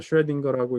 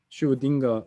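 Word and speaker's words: Schrödinger: 제가 좋아하는 책인데 What's Life라고 하는 그 책인데 뭐 이게 어윈 슈레딩거라고 읽기도 하고 뭐 에진 슈딩거 이렇게 이제 오스트리아 사람이라 이렇게 읽기도 하는데 노벨 프라이즈 위너가 쓴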